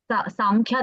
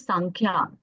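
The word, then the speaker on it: सांख्य: It is actually pronounced as Sankhya, because Sam and Kya in Sanskrit, according to the rules of Sanskrit, when the Sandhi happens, so because the next word is Ka, no?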